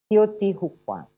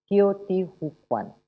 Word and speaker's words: Teotihuacan: to say this is how we say it, Teotihuacan. Yeah, Teotihuacan.